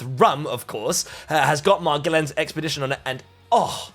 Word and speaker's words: Magellan: Magellan.